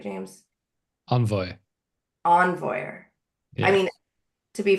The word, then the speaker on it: Envoyer: And James is an engineer team lead at Laravel, focusing on dev tools like Laravel Forge and Envoy. Did I pronounce that right, James? Envoy. Envoyer.